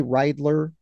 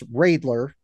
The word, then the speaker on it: Ridler: sure which I Ridler which I keep wanting to say rler um because pronunciation wise it looks that way but it's Ridler we're early in the season